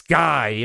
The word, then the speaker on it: Skyy: And his name rhymes with buy because it's Skyy, and it's Skyy Moore.